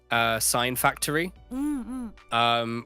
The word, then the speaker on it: Sine Factory: a free plugin by Sign Factory, which is spelled SINE Factory.